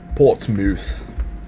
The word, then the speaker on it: Portsmouth: And I think that's how they say it in England. Mouth. Not mouth. Portsmouth.